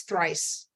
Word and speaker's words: Thrice: and so it's like once twice Thrice Earth race yep super